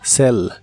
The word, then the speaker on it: sell: El verbo vender en inglés es sell. La doble L se pronuncia como una L normal. Sell, sell.